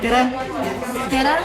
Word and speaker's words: tere: Tere.